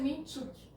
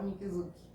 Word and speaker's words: Minczuk: A pronúncia é Minchuk. Mas como fica mais difícil ainda e as pessoas não vão entender qual é a letra, a gente fala Minkizuki.